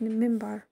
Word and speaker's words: minbar: Two special features were located inside the hall: a niche, mihrab, in the wall indicating a direction of Mecca, and a pulpit, minbar, pronounced mimbar, from where the sermons were delivered during noon prayers on Friday.